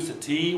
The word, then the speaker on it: sati: We have words like tattoo, sati, where the final stress, final primary stress.